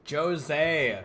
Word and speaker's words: Jose: We should consult Jose about this soon. Jose, that's how they say his name.